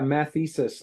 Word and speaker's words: mathesis: methis universalis oh yeah mathesis as in mathematics weirdly enough okay yeah